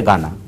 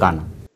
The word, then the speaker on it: Ghana: Real উচ্চারণটা হচ্ছে গানা, স্পেলিংটা হচ্ছে GHANA। এটা হেইসটা অলওয়েজ সাইলেন্ট থাকবে, যখন উচ্চারণ করবেন তখন হচ্ছে গানা।